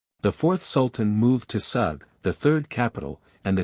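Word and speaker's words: Sūg: rendered in magin and the Sulu pronounce it and write it sug sug means a sea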